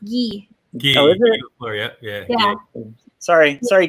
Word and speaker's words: Guy: make you a card and she was like guy lafleur and i was like i don't know who that is but i'm going to do it sorry someone told me it's pronounced gee gee yeah sorry sorry ghee if you're listening he's not oh but yeah